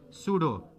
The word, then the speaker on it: pseudo: सूडो, PSEUDO, सूडो solid.